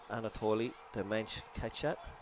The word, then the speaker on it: Anatoly Demench-Ketchat: Anatoly Demench-Ketchat. I checked that pronunciation with him at half time, but so Anatoly is the other official on the far side.